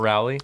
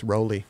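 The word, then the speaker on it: Rowley: It's not Rally. It's Roelly.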